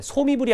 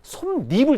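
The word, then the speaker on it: 솜이불: 이걸 소미불 발음하면 돼. 소미불이 아니야. 자, 미음, 앞말이 솜과 이불이 결합했는데 앞말이 자음으로 끝나고 미음, 그 다음에 이로 시작하니까 니은 첨가 조건 만족하니까 니은이 딱 들어가면 솜니불 되는 거야.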